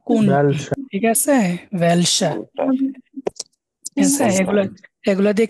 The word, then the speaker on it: welcher: wohin, wohin, আরেকটা আছে ভেলসা, বলেন তো ভেলসা। welcher, ভেলসা এটা হচ্ছে কোনটা বা কোনটি, ঠিক আছে, ভেলসা।